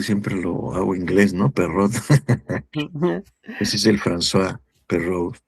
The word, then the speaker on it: Perroux: Ya por ahí me puso el nombre eh, Juan Luis, y sí, sí es François Perrault, ¿no? No sé por qué siempre lo hago inglés, ¿no? Perrot.